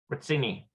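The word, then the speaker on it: רציני: And let me double check the pronunciation on that. Ritzini.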